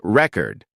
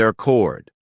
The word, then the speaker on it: record: For example, think about the difference between record, the noun, and record, the verb. If you stress the wrong syllable, it can sound confusing.